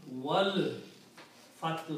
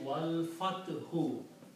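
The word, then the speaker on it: وَالْفَتْحُ: So when you read Wow, you do not pronounce this alif in between. Combine Wow with the lam. Wal Fathu.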